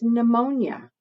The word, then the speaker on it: pneumonia: A word that starts with PNE that kind of comes to mind for me is pneumonia. And I know that because it's not spelled at all like it's pronounced.